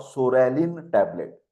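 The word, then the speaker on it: psoralen: P for soralin tablet. Here P is silent.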